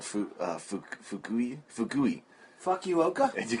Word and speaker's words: Fukui: I go, I think we're in Fukui. It's spelled F-U-K-U-I.